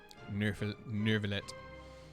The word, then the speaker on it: Neuvillette: I just realized I should have known how his name should be pronounced because the number 9 is Neuvillette.